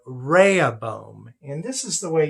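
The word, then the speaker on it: Rehoboam: King and so he chooses his son called Raya boom and this is the way you spell that and I'm gonna do a little bit of a chart over here so you can see this Raya bum is now the next king reh OB o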